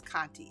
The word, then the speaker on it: Conte: heard it pronounced but i think it is kanti if it's not it's c-o-n-t-e so it's kant or either kanti all right so at